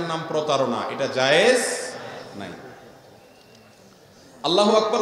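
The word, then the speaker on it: الله أكبر: আল্লাহু আকবার উচ্চারণ করার সময় আকবারের রাকে টেনে পড়া ঠিক হবে কিনা, না ঠিক হবে কেন, তাজবীদের সাথে বলতে হবে আল্লাহু আকবার আল্লাহু আকবার, এরকম বলা যাবে না।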